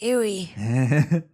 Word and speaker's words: Aoi: It's pronounced Ewy.